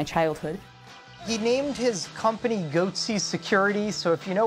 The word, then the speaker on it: goatse: and they're getting the goatse picture they're called goatse security is that my pronouncing that correctly yeah that's right we're analyzing